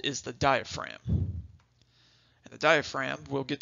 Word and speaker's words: diaphragm: as well and yes it is spelled a little funky it's got that silent G in there diaphragm is how you say it so let's move